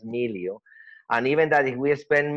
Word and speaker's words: Miliau: It took me an entire course to just to learn to say that was no Emilio, that was Milio.